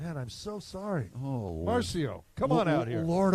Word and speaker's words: Marcio: What did I say? Marco. That's like Marcio, but, pronounced incorrectly. Where's the humor in that? Oh, my God. Man, I'm so sorry. Oh, Marcio, come on out here.